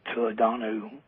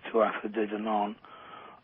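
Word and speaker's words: Tuatha Dé Danann: associations and connections through the Irish Tuadanu, often mispronounced Tuatha De Danann, and these were Scythians from Western Central Scythia.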